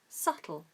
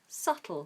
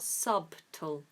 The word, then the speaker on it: subtle: subtle is confusing because it has the letter B in it and B is silent in this case so we ignore the be ignore the be so we say SLE subtle subtle not subtle okay so ignore the